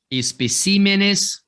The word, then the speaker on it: especímenes: Alguns plurais que mudam aí a sílaba tônica para não gerar a tal da bissesdrúxula. Tá vendo aqui, ó? Júpiter, Lúcifer. O plural desses camaradas aqui, ó, assim como espécimen. Então vai ficar especímenes, Jupíteres, e lucíferes, para que mantenha a ideia de proparoxítona.